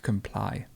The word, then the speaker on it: comply: the middle there's compliance and to comply the stress goes moves to the end to comply to compose to compose